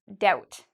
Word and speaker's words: doubt: Again, if you like the band No Doubt, okay, with Gwen Stefani, her old band, you don't have to worry because you don't pronounce the B. It's just doubt.